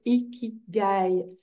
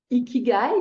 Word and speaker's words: Ikigai: Japonais appelleraient quand on est connecté à notre Ikigai.